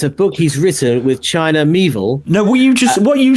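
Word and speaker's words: Miéville: China Mieville. Rhymes with Knievel.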